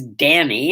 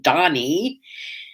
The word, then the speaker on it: Dani: first child donnie yeah her name is donnie d-a-n-i it's a hebrew name it's driven her crazy for most of her life nobody could ever spell it right or say it right she was always danny and she'd have to say i'm not danny on donny now she loves it